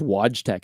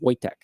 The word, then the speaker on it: Wojtek: I thought it was Wojtek at first. It's Wojtek, but it's pronounced Wojtek.